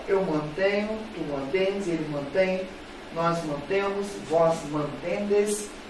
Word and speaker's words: mantém: Aqui, ele mantém. Ó. Eu falo mantém ou mantém? Mantém. Então, aqui, ó, a última sílaba é forte, é óxido, terminado em N.